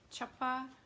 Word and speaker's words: chuppah: And it had been her wedding chuppah, I think is how you say it, chuppah.